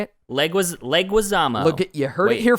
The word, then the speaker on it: Leguizamo: That's where Bob Hoskins and John Leguizamo know. How do you say his name? What? Got it, baby. How do you say it? Leguizamo.